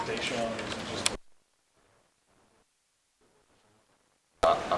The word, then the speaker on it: Dashawn: Because I've heard people say it's Dashawn, or is it just? I prefer to go by Dashawn.